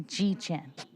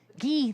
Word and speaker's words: Guy: Our next speaker is Askari Addison, who will be followed by Guy Chan, or G Chan. Pardon me? It's pronounced Gee. Gee, thank you.